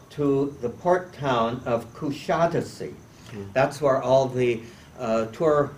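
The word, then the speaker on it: Kuşadası: evening will be overnight there in coushatta see please resist the temptation to pronounce kusadasi many people do following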